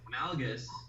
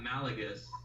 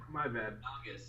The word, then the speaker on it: Malgus: It's Malgus. It's not Malagus. My bad. Malgus.